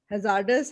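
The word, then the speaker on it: hazardous: हैजार्डस, हैजर्डस है इसकी pronunciation, हैजर्डस।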